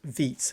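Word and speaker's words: Vite: nowadays is is is vit I mean it's called um actually let me let me show you vit it's pronounced V is apparently it's a French name or it's a French word and uh next next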